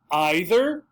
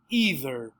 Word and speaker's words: either: symbol i i e so i don't like either i don't like either i like neither i like neither and these